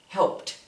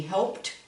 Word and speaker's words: helped: It's spelled with an ED, but we pronounce it with a T sound.